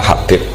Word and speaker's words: Habib: Itu di harokatnya kitab itu ada yang nulis Hubab. Yang benar, oh enggak, yang benar itu bacanya Habib. Habib itu As-Sulami, itu ikut marga Robi'ah.